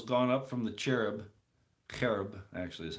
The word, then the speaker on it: cherub: of Israel was gone up from the cherub cherub actually as how you say it whereupon he